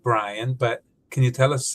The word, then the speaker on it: Bryann: I know you pronounce it Brian, but can you tell us a little bit more about your name?